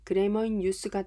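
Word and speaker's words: Grammar in Use: 기본서로 적당한 그래머인 유즈를 예로 들어 보겠습니다. 실제 발음은 그래머인 유스가 더 가깝지만 유즈라고 표기하는 경우가 더 많기 때문에 유즈라고 하겠습니다.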